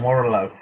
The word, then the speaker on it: Warrillow: born out of a corruption of my surname warlow it was someone who was struggling to pronounce warlord correctly and they they started calling